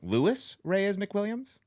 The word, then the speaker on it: Louis Reyes McWilliams: Louis Reyes McWilliams.